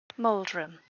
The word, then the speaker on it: Moldren: do you know it moldren i'll spell that for you it's actually basically how it sounds oh trim do you